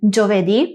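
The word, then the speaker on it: giovedì: El sonido yo se hace con g + i + o. Aquí, al igual que en el caso anterior, necesitamos la i entre la g y la o.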